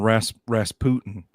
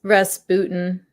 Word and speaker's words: Rasputin: I still don't know if it's Rasputin or Rasputin. I mean, probably Rasputin. You know, like Putin. Yeah. I mean, American pop culture, he's Rasputin, but yeah, it was always pronounced before as Rasputin.